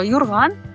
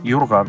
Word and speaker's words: юрган: Юрган. Юрган. Тут точно у. Слышите? Юрган.